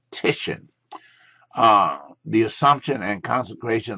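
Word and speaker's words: Titian: it's moving and uh tisan work let's pronounce these artists correctly tishan uh the Assumption and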